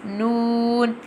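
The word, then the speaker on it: نون: And Noon pronounced from the tip of the tongue touching the gums of the top four front teeth, like this. Noon.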